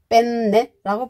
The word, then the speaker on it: penne: 뭐 이렇게 주문한다고 하는게 빼내 주세요 이렇게 되는 거야 그렇더니 그 주문받는 정보이 아 안가며 하면서 어 주방에 가서 아 있는지 한번 물어보겠습니다 뭐 이랬답니다이 조심해야 됩니다 반드시 뺀 네라고 발음해 주세요 영어에서도 끝에 이렇게 되잖아요